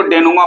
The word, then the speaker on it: denouement: इसको डेनुमा पढ़ते हैं, ध्यान से देखिएगा। ठीक है, स्पेलिंग थोड़ा अलग है, DENOUEMENT, डेनुमा।